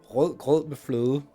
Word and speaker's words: rød med fløde: The soft D. Rød med fløde. Good luck pronouncing that. So yeah. No, it's a soft D, like fløde.